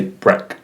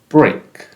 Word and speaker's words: break: in break a break not as in the e sound for example we wouldn't say break I need a break we want to say break so as example sentence